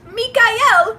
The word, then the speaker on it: Michael: And we're introducing ourselves, and I swear on my mother's soul, he goes, my name is Michael, but it's pronounced Mikael, like the angel.